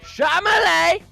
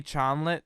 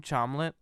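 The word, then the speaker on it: Chalamet: Brian special guests Timothy charmele it's actually no no no no it's actually a Timothy childlet that's how you pronounce my last name chomlet what yeah it's like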